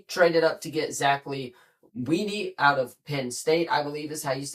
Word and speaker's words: Kuntz: We traded up to get Zack Kuntz out of Penn State.